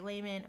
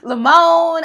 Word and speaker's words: Laymon: author here casey layman who i always want to add extra syllables to your last name i always want to say how are you going to do that what you're going to do lamone i don't know in